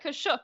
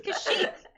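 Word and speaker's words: Kashyyyk: playing kour yesterday and they literally said kashuk and I'm like excuse you kashuk out of here like that's it's kashik like excuse me like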